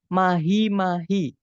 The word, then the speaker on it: mahi-mahi: Nah, kalau yang bravo, mahi-mahi. 4 suku kata, yaitu ma, kemudian hi, ma, kemudian hi.